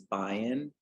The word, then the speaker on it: Bion: having me on the the pronunciation of my name is Bayan um like Zion um but thank you